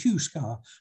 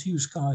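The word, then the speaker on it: Heughscar: towards this hill here i think it's spelled h h-e-h-e-u-g-h s-c-a-r i pronounce it hugh scar that could be wrong so from pythologies if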